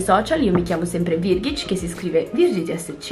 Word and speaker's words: Virgitsch: tutti i miei Social Io mi chiamo sempre virghic che si scrive virg SCH e niente Buona visione Rieccomi